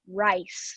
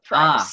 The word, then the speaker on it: Rice: And the lady's name is Rice, not Price. Ah, very close. Yeah, Rice like the she's pretty food? good. Yes, rice like the food, like Okay.